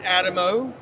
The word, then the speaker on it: Adamo: Alamo with a D and not an L. So it's just that easy. So Adamo, how can folks connect with you?